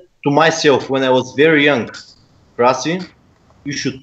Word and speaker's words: Krasi: Krasi, yes, Krasi.